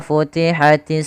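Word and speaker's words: فتحت: Pada bacaan wa futihatis samaa'u, wa futihatis samaa'u. Nah, di sini ada fa, alirkan nafasnya ketika kita melafalkan huruf fa, ya. Maka kita lafalkan fa, fi, fu, alirkan. Wa futihatis sama.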